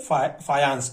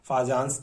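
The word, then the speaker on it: Fajans: सन 1924 में कैजिनियर फायांस, ठीक है, इसको इंग्लिश में इस प्रकार से लिखा जाता है, फाजांस करके भी आप इसको प्रोनाउंस कर सकते हैं।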